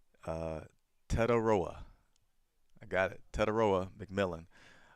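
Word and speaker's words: Tetairoa: I love this because now I have the pronunciation so I can get it right. Uh, Tedaroa, I got it.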